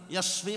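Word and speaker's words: يشفي: Jangan yusfi bacanya ya. Kalau yusfi itu artinya membinasakan, yasfi menyembuhkan.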